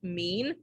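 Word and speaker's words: mien: owe you one um number six is just pronounced mean like you're really mean um but it's a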